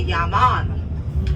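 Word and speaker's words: yeah mon: question, it's going to be yes, you say yaman. Yaman means yes. It is spelled Y-E-A-H-M-O-N.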